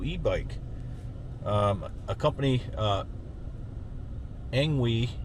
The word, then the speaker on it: Engwe: um a company uh angu I think it's called pronounced Ang we uh reached out to